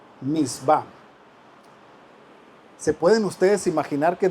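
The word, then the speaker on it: מצוה: están en la biblia en el hebreo es a esa palabra mandamientos se pronuncia mitzvah mitzvah se pueden ustedes imaginar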